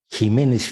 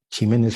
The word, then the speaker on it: Ximénez: Igual yo no sabía si era Jiménez, porque aquí en España a la X la pronuncian como She también. La doctora Lauriane Jiménez Fibie, que es fundadora